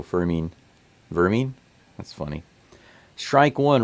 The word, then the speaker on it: Fermin: Every time I see his name, I think Furman. But it's pronounced mean, so Fermin.